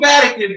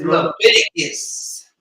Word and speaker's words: Leviticus: You keep calling me Vatican. I know it's unique. Everybody mess it up, so don't even feel bad, son. Yo. It's Leviticus. Leviticus. There you go.